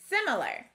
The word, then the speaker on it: similar: that sounds like ill the last syllable though has an r controlled a it should sound like r but it doesn't it sounds like er let's put this word